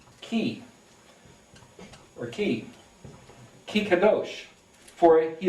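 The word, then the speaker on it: כי: For, thus, because, it's the word pronounced ki, or ki kadosh, for he is holy.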